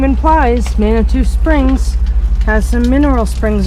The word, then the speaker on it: Manitou: a lot of information so we're heading to Manitou is how you say it Springs next and